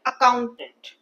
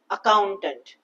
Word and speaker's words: accountant: stress sales person okay same way accountant count part has more stress accountant correct very good so